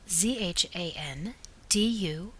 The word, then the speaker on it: Zandu: Washington Square at the zandu the proper pronunciation of this is as if it were spelled zhaan du y a this is one of